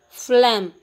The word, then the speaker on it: phlegm: then seventh one is phlegm here we won't pronounce the letter sound g that is g is